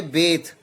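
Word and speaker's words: bathe: इसको प्रोनाउंस करेंगे बेथ, be careful. ऐसे हम लोग बात बोल देते हैं, बट रियल प्रोनाउंसिएशन इसकी क्या है, प्रोनाउंसिएशन बेथ है.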